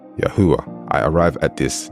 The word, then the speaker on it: Yahweh: name would have sounded the name I have concluded and I'm convinced of with all my studies is Yahweh I arrive at this